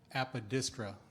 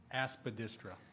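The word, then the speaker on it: aspidistra: Apodistra. Oh, sorry. I mispronounced it. Aspedistra.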